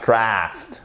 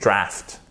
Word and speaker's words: draft: Et ça, c'est un A court, c'est pas draft, c'est draft. OK?